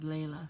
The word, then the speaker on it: Layla: tells me I'm sorry my name is pronounced Layla so Layla sorry about that how